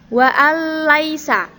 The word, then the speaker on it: wa'alaihissalam: adalah bacaan Idgham bilagunnah idgam bilagunnah itu membacanya dilebur Hai huruf lam tanpa dengung wa'alaihissalam jadi langsung ke huruf lam yang bertasydid ini nunia tidak terbaca